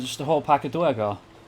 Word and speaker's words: Duergar: a whole pack of Duergar. Or Duergar, if you prefer. I like the Duer sound. But pronunciations may vary. There is assuredly a canonical pronunciation, and it probably is Duergar.